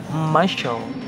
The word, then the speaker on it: muscle: However, if the letter C follows the letters S, the letter C will turn into the silent letters. Word like muscle, muscle, and miscellaneous, miscellaneous are some examples that can be taken.